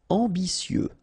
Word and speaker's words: ambitieux: Ambitieux, final X not pronounced, and then remember that you get this T, I, and then vowel, so si.